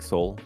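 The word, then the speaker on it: Seoul: be playing in Soul how you say it soul s it's like Soul yeah soul Korea yeah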